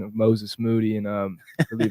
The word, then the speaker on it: Moses Moody: us, I remember asking him about Perkins, his pronunciation of Moses Moody, and I believe it's the 2020 draft. He's like, what, Moses Jamoody, like he said everything but his real name,